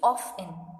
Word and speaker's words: often: So often, we use often. We don't use T.